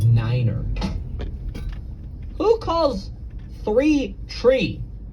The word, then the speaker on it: niner: You know, pilots are supposed to pronounce numbers in a really funky way. Like you're supposed to say tree instead of three. You're supposed to say five instead of five. Uh, and then nine is niner.